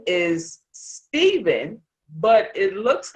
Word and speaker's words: Stephen: about with your name so your name is stephen but it looks like it's pronounced stefan so tell us about that because that story